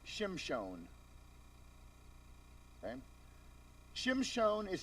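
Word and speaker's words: שמשון: Samson in Hebrew is Shimshon.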